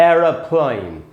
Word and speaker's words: aeroplane: होता है, ए ही होता है, जिसको पढ़ेंगे एरोप्लेन, एरोप्लेन, इस प्रकार से पढ़ना है। अच्छा दोस्तों, अमेरिकन में स्पेलिंग भी बदलेगी और प्रोनाउंसिएशन भी बदलेगा।